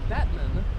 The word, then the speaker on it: Batman: and buy their land now his name is pronounced uh Batman but it's spelled the same as Batman b